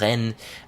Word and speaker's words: Rennes: You know, it was a near a city called Ren. Um that's spelled R E N S.